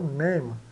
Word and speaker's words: name: e name né então name e o e final mudo né quase sempre ele é mudo no final então name e mil esse soa